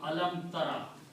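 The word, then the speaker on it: أَلَمْ تَرَ: In the pronunciation they drop out just to make it easy. So this word will become alam tara.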